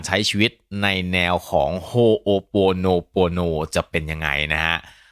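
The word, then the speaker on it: Hoʻoponopono: อีก ที นึง นะ มัน ออก เสียง ว่า โฮโป No Pro No นะ ครับ สำหรับ ใคร ที่ ไม่ รู้ ความ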